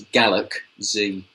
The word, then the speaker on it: Galak-Z: So the only other game I played this week is Galak-Z. Which sounds odd. Galak-Z? It's Galak-Z. As in Gaelic? As in it's meant to sound like Galaxy.